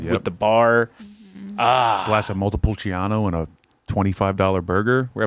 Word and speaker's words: Montepulciano: Montepulciano. You have to say it like that. Montepulciano.